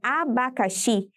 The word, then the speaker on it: abacaxi: A palavra abacaxi possui 4 sílabas e a sua sílaba tônica é a sílaba xi, ou seja, a última sílaba, e por isso ela é classificada como oxítona.